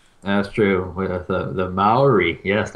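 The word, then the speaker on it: Māori: at the screen going no it's not it's not madrid it's maori but anyway oh that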